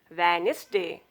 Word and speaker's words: Wednesday: This not pronounced in these words. Handkerchief, handsome, sandwich, Wednesday.